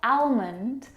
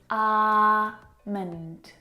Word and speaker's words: almond: this afternoon almond now in this word the L is silent it's not almond or almond it's our mint mint almond almond I'm